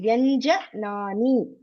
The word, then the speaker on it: व्यञ्जनानि: Vargiya Vyanjanani. Vargiya Vyanjanani. Sparsha Vyanjanani. Sparsha Vyanjanani. Yeah. See, here you are doing some scarcity with akara. Properly tell. Vyanjanani. Vyanjanani. J. You're just telling J. Tell A properly. Vyanjanani.